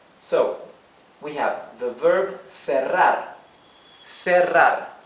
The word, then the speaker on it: cerrar: See how here we have double R. Double R. That's why, although the R is in the middle of the word and in between 2 vowels, right? We pronounce it R, the rough R, because it is doubled, right?